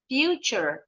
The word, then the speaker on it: future: fure ahead of him future t-nya bunyinya CH future yes one more